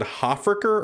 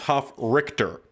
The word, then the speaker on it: Hofrichter: I think I said Hofricker or Hofreicher, but it's Hofrichter. So I was close.